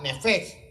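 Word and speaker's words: נפש: Esta palabra, ¿verdad?, Nefeg, que es como se pronuncia, es algo entre la P y la F, es diferente a la usada en el mismo capítulo, en el verso 29.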